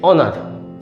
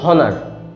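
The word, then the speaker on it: honour: এটার উচ্চারণটা হচ্ছে অনার, কিন্তু এইচের উচ্চারণ আমরা জানি হ দিয়ে হয়, তো আপনি এটাকে বলুন হনার। একবার বলুন হনার, তারপরে বলুন অনার।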